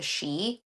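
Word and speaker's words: sidhe: it's like um the shei the ASI it's spelled s i d h e s i d h e but it's pronounced she so um they're the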